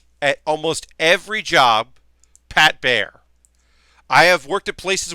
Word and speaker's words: Baer: A girl that was working there was like, did he call you Pat Baer? Like Pat Baer? Like one syllable?